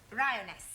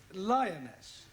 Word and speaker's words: lioness: of the following lion roness lioness roness no l l r r you're not saying it right very sorry I know try saying roness lioness good well in future